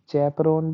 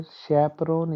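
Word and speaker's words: chaperone: चैपरोन भी बोल सकते हैं या फिर शैपरोन इसका एकदम सही प्रोनाउंसिएशन है।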